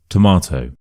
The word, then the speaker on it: tomato: So, firstly, we have tomato. Tomato. So, the schwa is at the start. To ma, you stress the m part.